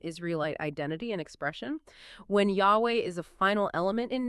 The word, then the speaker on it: Yahweh: Jehovah is, yes, a very common pronunciation, but historically speaking, it's incorrect. The pronunciation Jehovah, well, it's considered incorrect because it basically arose from mixing the consonants of Lelo with the vowels of a different Hebrew word, odi, which means Lord.